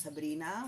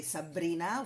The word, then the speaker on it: Sabrina: Andy's auntie's let's say we double the consonants that are not supposed to be doubled because we like it